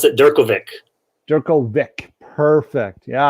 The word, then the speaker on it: Durkovic: name i pronounce it durkovic jerkle vic perfect yeah i don't think that's the original czech pronunciation but that's what we i think it's supposed to be pronounced djerkovich or something like that